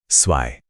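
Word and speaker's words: zwei: जब भी आपको जेड दिखे तो मुंह से की एक तेज आवाज निकालनी है। जैसे इंग्लिश में कैट्स के आखिर में जो की आवाज आती है बिल्कुल वैसी यह ज या ज बिल्कुल बिल्कुल भी नहीं है।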